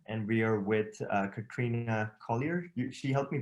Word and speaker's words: Collier: So I am Katrina Collier. Collie, like the dog with an R.